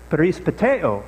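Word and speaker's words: περιπατέω: So the way that I would pronounce this is perispateo, and you put the emphasis on the A.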